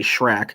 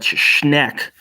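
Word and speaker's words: Schenck: Okay, Schneck. I was going to say Shrek, but Schneck against the United States.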